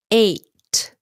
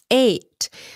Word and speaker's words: eight: eight don't forget the t at the end eight eight it's spelled that way but it's pronounced just like